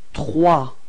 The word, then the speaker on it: trois: Okay, and then comes trois. Okay, so remember that O plus I gives you this wah wah wah sound. Okay, and then the final S is not pronounced. So you get this trois, repeat.